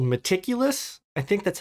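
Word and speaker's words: Metaculus: and it's a website that Max built called meticulous I think that's how you pronounce it but it's spelled like metaculous m-e-t-a-c-u-l-u-s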